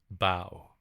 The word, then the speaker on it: bough: Bow. Okay. Bow. That's how it's pronounced.